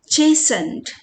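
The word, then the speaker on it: chastened: इज़ यह वाला है चेसंड इसमें टी साइलेंट है देखो चेस अंदाजा लगा सकते हो कुछ तो हो रहा है ट्रांसफॉर्मेशन हो रहा चलो देखते हैं।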